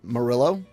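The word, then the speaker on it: Murillo: Uh, Marillo, you know, that's good. It rhymes with Brillo.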